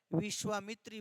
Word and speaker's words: विश्वामित्र: उच्चारण में क्या है? विश्वामित्र बोलते हैं।